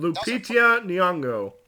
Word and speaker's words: Lupita Nyong'o: Lupita Longo, is how you pronounce her name? Lupita Nyong'o.